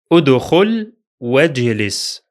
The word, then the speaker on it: ادخل واجلس: Check this example, which will be read as ادخل واجلس. ادخل واجلس. The first Hamza is pronounced because it begins the speech, while the second is silent because it's in connected speech.